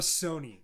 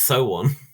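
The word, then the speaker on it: SONE: if if i'm a sony all right let's let's that's that's the one the fandom name for a girl's generation is it sony it's so one that's how you say it is it oh so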